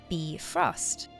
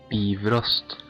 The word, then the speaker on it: Bifrost: would be closer to Bifrost. Or an easy way to remember it, it kind of sounds like beef roast. Bifrost.